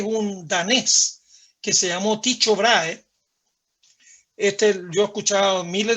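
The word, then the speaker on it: Tycho Brahe: maneras de llamarlo pero a mí me gusta decirles dicho vrae algunos dicen los norteamericanos hablan de taiko brage o los alemanes hablan de parajes pronunciando la h pero en castellano para los amigos dejémoslo en dicho grave dicho ahora en hace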